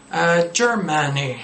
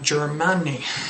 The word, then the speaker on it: Germany: There are a lot of pronunciation errors you can correct with this thing, you know? Germany, not Germany.